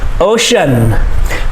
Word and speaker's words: ocean: ah volcano volcano ocean ocean the sea makes the sh sound here ocean okay c-e-a makes the